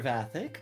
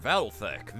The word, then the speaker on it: Valthek: Vathic, my Lady Claudia, Miss Russell, I believe this is the first we've met. the receptionist for the Roland branch. It's pronounced Valthek. The L is reverse silent.